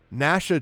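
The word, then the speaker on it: Gnasha: they look quite juicy Nasha choose through and it is spelled exactly like that as in nashing of teeth GN ashaa Nasha chews through all your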